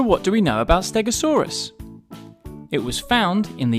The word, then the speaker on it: stegosaurus: you say that again stare go saw rest can you say it with me stare go saw so what do we know about stegosaurus it was found in